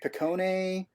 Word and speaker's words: Picone: was like Mickey finecone is it pronounced like Picone my actual my actual name is Picone but I've been called Pinecone